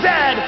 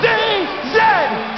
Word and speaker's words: zed: a Chesterfield is a coach and it is pronounced Zed not zzed cot is the second largest landm the first